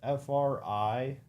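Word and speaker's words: Frieren: How do you spell it? F-R-I-E? Ren. How many episodes in Freyren? It's Frien.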